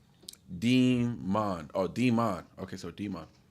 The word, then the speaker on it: Demon: Okay, so demon. Oh, so the E is pronounced.